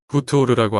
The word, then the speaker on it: 하토르: 이 정사각형 틀 안에 한쪽 끝에 머리 표시가 있고 가운데 매 형상이 있는 이 글자가 이집트 발음으로는 후투오르라고 하는 그런 이름이고 그게 하토르 여신의 이름입니다.